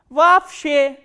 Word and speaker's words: вообще: And you have to remember, whenever two o sounds come together or two letters o come together in a word, this double o will be pronounced as a single a, a.